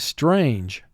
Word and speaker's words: strange: 6 sounds. S, t, r, a, n, j. Strange. Mark the word. Strange. Now, 6 sounds in 1 syllable is about the most number of sounds in a single syllable you're going to ever encounter. Also notice the E is causing the A to represent its long sound in this word.